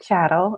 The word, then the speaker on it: chattel: But it's just chattel. It rhymes with cattle.